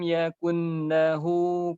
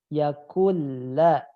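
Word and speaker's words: يَكُن لَّهُ: Walam yakun lahu kufuwan ahad. Antum terdengar huruf nunnya dibaca. Yakunla. Oh, Huruf ya Ustaz. nunnya masukkan ke lam. Nunnya hilang. Nunnya harus hilang secara bacaan. Yakulla.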